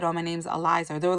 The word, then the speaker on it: Ilysa: because i don't know my name is spell weird it's ilysa so everyone i always get like ilsa alyssa never eliza so i'm like oh it's eliza and she goes okay